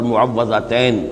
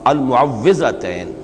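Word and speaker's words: المعوِّذتين: کچھ مشکل ہوتی ہے، عام طور پر معوذتین یہ غلط العام میں اس کا نام مشہور ہو گیا ہے، لیکن اصل میں المعوذتین واو کے زیر کے ساتھ۔ اور اس میں بھی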